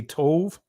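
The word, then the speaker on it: tav: He would actually say the Ah and the Tha. Now, many of you guys would say Tov, right? That's a Israeli pronunciation of the letter. But the ancient Hebrew is the Ah and the Tha, right?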